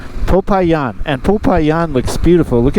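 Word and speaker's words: Popayán: of this city was and it it is pronounced popayan popayan and popayan looks beautiful look at these mountains absolutely gorgeous uh so it's not Papa John's after all popayan which you know that could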